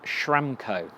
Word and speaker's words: Schramko: And today, this is my Australian mate, James Schramko. And that's spelled Schramko.